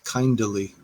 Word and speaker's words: kindly: two syllables thorugh and kindly is pronounced with three kinda Li they flee from me